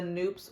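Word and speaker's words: Knoops: We saw a Noops, and I think it's pronounced Noops.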